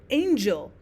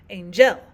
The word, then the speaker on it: angel: For example, usually when we would say in English the word angel, we would stress the first of the two syllables, we would say angel, not angel.